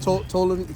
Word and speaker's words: Ptolemy: Yeah, but Ptolemy, it's like Ptolemy. That's niggas say pronounce the P.